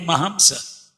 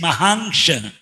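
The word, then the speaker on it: Mahāṃśa: And our temple president, still today we call him Mahamsa. But actually his name is Mahangsha. Maha-angsha, great part.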